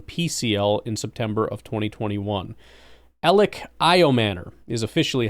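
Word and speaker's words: Elic Ayomanor: Ellioman is officially how you say his name. Thank you uh for confirming that. Elic Io Manor.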